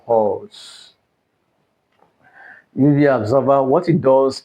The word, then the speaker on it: HALS: UV absorber and we have what is called HALS.